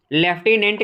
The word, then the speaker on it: लेफ्टिनेंट: Friends, 69 select the correct spelling. लेफ्टिनेंट की आप लोगों को राइट स्पेलिंग बताना।